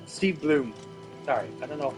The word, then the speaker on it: Blum: Steve Blum. Steve Bloom. Sorry, I don't know how I keep mispronouncing his last name.